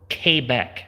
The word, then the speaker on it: Quebec: and it's Quebec so or came back as they pronounce Quebec what do you expect